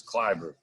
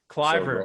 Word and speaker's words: Kloiber: So if you were from Austria, you would have pronounced it right. But here in America, since I've been born, it's Kloiber. Kloiber. So the O is silent, but hey, I've been called a lot worse things.